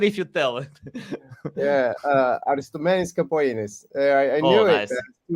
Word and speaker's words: Aristomenis Capogeannis: I can't pronounce it. Please, it's better if you tell it. Yeah, Aristomenis Capogeannis.